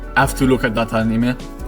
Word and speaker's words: anime: So the Hokuto no Ken War Aftermath is based off an anime, even though we have to pronounce it anime, as we pronounce it in Italy and in Japan, because of course anime are Japanese.